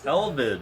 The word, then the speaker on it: Elvidge: And I'm so bad with names, so I know it's Michael, but the last name is pronounced Elvage.